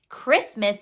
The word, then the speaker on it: Christmas: Christmas has the k sound at the beginning, and that is because it is from Greek.